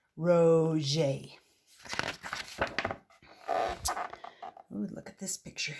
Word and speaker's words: Roget: This is about Peter Mark Roget, pronounced Roget.